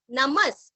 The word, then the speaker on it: नमः: नमः, नमः के आगे जो विसर्ग है उसका उच्चारण हल्का सा स आएगा।